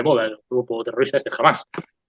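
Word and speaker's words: Hamas: Ahora que está tan de moda el grupo terrorista este jamás. Ahí la H en español no se pronuncia, sin embargo sí se pronuncia porque es un extranjerismo.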